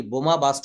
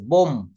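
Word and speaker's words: bomb: যে আজকে শহরে একটি বোমা বাস্ট করা হয়েছে বোম তো এটাকে আমরা কিন্তু বোম্ব বলি না শেষের বি টা কিন্তু বলা যাবে না বলতে হবে বোম কি বলতে হবে বোম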